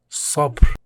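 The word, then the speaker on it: صبر: Sabr mean patience, pronounced with a strong emphatic S sound.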